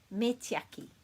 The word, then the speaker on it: me tiaki: It's quite easy to say, me tiaki, me tiaki, me tiaki. And it's kind of pronounced like this, me tiaki.